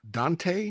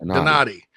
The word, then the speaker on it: Donati: So they did with Eric Hyman, Jeremiah Dante. Is that how you say his name? Donati. Yeah, I knew it was Italian.